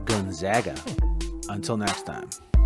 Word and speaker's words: Gonzaga: here on this episode but enjoy it it's pronounced gonzaga until next time